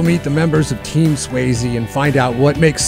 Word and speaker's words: Sweasey: It's Sweasey.